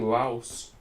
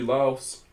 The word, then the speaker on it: Laos: Getting Laos. This could be Laos. Could be Laos, sorry. Why am I pronouncing the S?